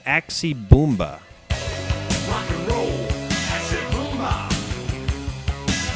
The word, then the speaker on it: Axe Bomber: The fourth and last song on this album is called Axe Bomber, but for some reason he pronounces it the Axie Boomba.